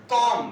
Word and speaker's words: comb: Next बताइए, कंघी करना की इंग्लिश कॉम। कॉम, हाँ COMB, लेकिन बोला जाता है कॉम, बी साइलेंट रहता है।